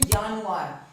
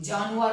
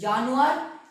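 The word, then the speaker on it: Januar: For example जनवरी, जनवरी को हम क्या बोलते हैं जर्मन में, जानुआर, ठीक है। जे की साउंड वही प्रोनाउंस होती है, जानुआर मत बोलना, ठीक है। तो जानुआर, ठीक है।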